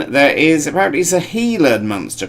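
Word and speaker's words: Gila: hummingbird and leming then there is apparently a healer monster pronounced sorry spelled giler heiler monster and a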